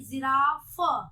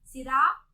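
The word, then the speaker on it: जिराफ़: जिराफ, फ बोलेंगे नहीं, जिराफ। क्या बोलेंगे? जिराफ। पीएच नहीं, एफ, जिराफ।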